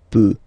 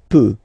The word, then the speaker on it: peut: Je peux, tu peux, Then il, elle, peut. So you will put T at the end, you don't pronounce it.